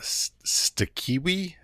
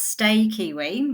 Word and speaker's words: Stakiwi: do and you run Stak kiwi how do you pronounce it so it's pronounced stay kiwi because my name stay C stay kiwi kiwi the national native bird of New Zealand stay kiwi and as we can